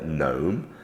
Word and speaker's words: gnome: letter in the alphabet g is silent when followed by N I gave you an example earlier gnome another example is new the animal new um there aren't many